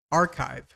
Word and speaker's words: archive: the approximate phonetic sound in Spanish, like this: R, ha, if. More or less like this. It's not exactly like this, but if you say it like that, everyone will understand you.